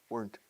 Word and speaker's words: weren't: weren't weren't weren't weren't weren't one syllable weren't weren't wedded weren't